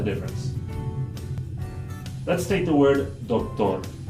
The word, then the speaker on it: doctor: So in Spanish, the D and the T in this word are both going to be dental against the top two teeth. Doctor, doctor. But in English, we're going to pronounce it by placing the tongue in a different place. So, doctor.